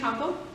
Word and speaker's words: Compo: my name is Shayna compo like the compost pile hope you say it